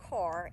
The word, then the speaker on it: Kerr: it's um john kerr we call it kerr k-e-r-r but they call it car and being that it's named after someone from north carolina a congressman from north carolina they probably say it right and we don't anyway